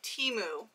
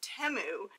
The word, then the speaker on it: Temu: I do have to say I have been pronouncing it Teemu ever since I found out about this shopping website but I guess it's not timu it is temu which I found out the correct way to